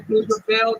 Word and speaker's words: Pflugerville: When I say Pflugerville, the P is silent. Okay.